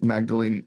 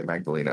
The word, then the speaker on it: Magdalene: Day Slumber, and also Magdalene Rose. I always mispronounce her name. I always say Magdalena or whatever, but it's she's absolutely fantastic.